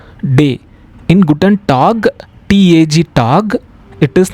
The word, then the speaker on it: Tag: We will pronounce it as A. For example, in Guten Tag, Guten means good, Tag means day. In Guten Tag, T-A-G, Tag, it is not tag, it is Tag.